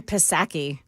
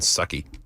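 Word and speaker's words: Psaki: I mean, Jen Pasaki. Who? Jen Jen It's circle back. No, I know who it is, but you The P is silent.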